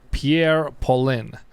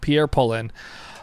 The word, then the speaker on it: Pierre Paulin: the Jump Hour by Pierre Paulin. That's not how you say it. Please correct me, but I believe Pierre Paulin.